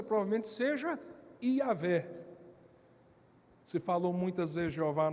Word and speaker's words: Iavé: Mas não tem como ser Jeová, porque não tem o som de J na língua hebraica. Então não tem como ser Jeová.